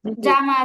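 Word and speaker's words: جيم: sorry না জিম না আমরা বাংলাতে অহরহ শব্দ হরফটা উচ্চারণ করি বর্গীয় জমা জুতা ইত্যাদি সব জায়গায় বলি ওখান থেকেই জিম জিম এটা ভুলবেন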